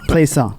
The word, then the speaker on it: Pleasant: Okay. Pleasant. No. Pleasant. like a pleasant day.